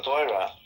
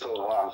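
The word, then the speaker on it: תורה: The way that you pronounce the word that he's mispronouncing is Torah. Taf, Vav, Reish, Hey.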